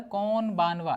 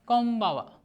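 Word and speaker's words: こんばんは: अब इसको नॉर्मली आप पढ़ेंगे तो ये आता है कौन बानवा, लेकिन आप कौन बानवा नहीं पढ़ते हैं, इसमें जब बोलते हैं तो यहाँ पे एन आपका साइलेंट हो जाता है, तो आपका बोलते हैं कोम्बावा, ठीक है।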